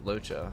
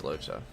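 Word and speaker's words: Luocha: use than somebody like Locha. I think that's how you say his name. I think it's Locha.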